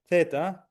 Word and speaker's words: theta: Uh the next one is the th sound almost like in English uh theta.